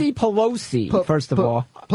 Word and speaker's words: Pelosi: Well, our House Speaker Nancy Plegosi... I don't know how to pronounce her name. It's Nancy Pelosi first of all.